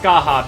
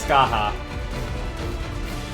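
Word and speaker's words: Scathach: and it is pronounced Skaha because it is from uh Irish Legend and in there they pronounce things very differently and it is Skaha you take talking about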